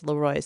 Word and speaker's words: LeRoy: And yes, it's spelled LeRoy, but my husband, who's from Western New York, has told me it's LeRoy, so I wanted to make sure I got the pronunciation correct.